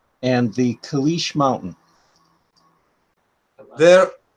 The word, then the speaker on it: Kailash: They want to know about your relationship to a place, I hope I can pronounce this right, Vaikuntha and the Kailash Mountain. There, Kailash, yes.